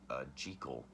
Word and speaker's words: Jekyll: Henry or Harry Jekyll which in this film and I think this is the only film where it's pronounced G Cole the Protestant G Cole he creates this potion